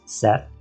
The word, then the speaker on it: Szeth: cette now I know the audio books pronounce this character's name as Seth but it's spelled s z e t so as I was reading this book originally I pronounced as cette because it reminds me